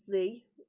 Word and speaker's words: Z: started this massive organization called Z and that's how to pronounce it because it's an American book um so z um